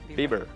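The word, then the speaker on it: Biber: Viennese transcultural magazine Bible is that how I pronounce Bieber Bieber like Justin like Justin yeah all right uh and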